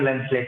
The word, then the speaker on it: lancelet: उसको हम लेंसलेट कहते हैं। हाँ सर।